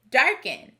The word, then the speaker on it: darken: word this word is darken we expect this e to sound like e but it sounds like it dark in which star does this